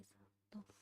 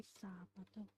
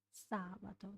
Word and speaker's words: sabato: Per la festa di sabato. Per la festa di sabato. Sabato. The stress is on sa. Sometimes I just end up saying sabato. Like equal stress, but that's wrong, of course.